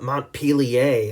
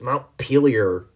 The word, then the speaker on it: Montpelier: wrong say like stop it's not M Pia it's Mount peer all right here we